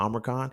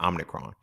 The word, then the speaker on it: Omicron: Now, we're on the Omicron.